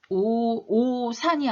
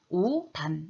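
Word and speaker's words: 옷 안: 그럼 이거 발음 어떻게 될까? 오산이 아니라 오단 이렇게 발음해야 되겠죠.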